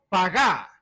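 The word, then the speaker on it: פגע: traducción del verbo hebreo pagá es como paga Pero con acento en la última pagá en hebreo Ahora yo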